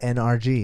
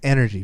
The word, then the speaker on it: NRG: ties back to energy I said it right see that not NRG it's energy people okay they signed a